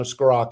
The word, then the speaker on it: Scrocca: You know, Scrocca is how you pronounce it.